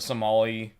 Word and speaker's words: Somali: about it keep saying Somalian, and I'm like, that's not a fucking word. I mean, it is though. Technically. It's Somali. Oh, is it really? Have Not I been saying it wrong Somalian. this whole time? For Somali. years, I have said Somalian. We don't call them Somalian pirates.